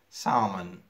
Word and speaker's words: salmon: فۆڵک ئێڵەکەی سایلنتە هاف palm salmon I will read it with a silent L ستونی که معنی که